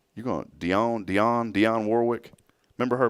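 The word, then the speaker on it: Dionne Warwick: how do you say her name is it Deon Warwick you going Dion Dion Dion Warwick remember her back in Warwick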